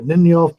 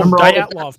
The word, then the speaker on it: Dyatlov: That with I can't pronounce it right. It's called the Ninov Pass or something. There happened in '59 in Russia. Oh, Dyatlov Pass.